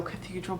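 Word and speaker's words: Catedral: It's meant to be pronounced in the Spanish way, according to the description on the pattern. So Cathedral, but without an H.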